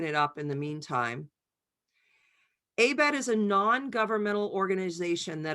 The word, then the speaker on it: ABET: And now what I'm doing is I'm going into ABET, where this looks like the link may have left.